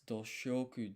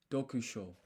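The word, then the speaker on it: 読書: Is it dosh? Dokusho. That's it.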